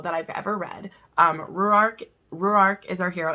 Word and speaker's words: Ruark: from a hero that i've ever read um ruark is our hero it's very hard to pronounce it's r-u-a-r-k and the way that shanna